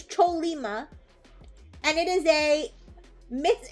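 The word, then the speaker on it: Chollima: Is it pronounced choyima? Oh, it's a mythological horse. Okay, so it is choleima. It's choleima.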